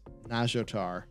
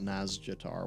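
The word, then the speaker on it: Nazjatar: as jader as jader it's nagiotar that's how you pronounce that it's not naz jatar what are you doing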